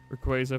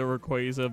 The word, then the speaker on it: Rayquaza: And yeah, I say it like ray quaza because like ray like a laser and then qua like quazar like um you know quaazars being um you know space stuff.